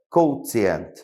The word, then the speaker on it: quotient: Uma palavra em inglês que se fala quotient, certo?